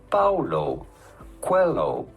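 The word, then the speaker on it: Paulo Coelho: to pronounce that how do you go about pronouncing his name paulo cuello paulo cuello pretty straightforward once you know paulo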